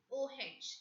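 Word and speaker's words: eau: O-H. In English, we pronounce it as O. A-U-S-S-I, O-C, E-A-U, O. E-A-U as a separate word, it has a meaning in French. O means water.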